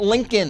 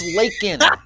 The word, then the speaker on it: Laken: Of course, her name is not Lincoln. It's Laken.